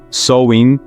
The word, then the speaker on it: Samhain: nosso esta noite chamada samhain pronuncia-se soin era quando os Fantasmas